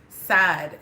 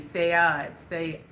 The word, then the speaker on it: Saad: I think you pronounce it Saad, S-A-A-D, Sayad, that was from Turkey.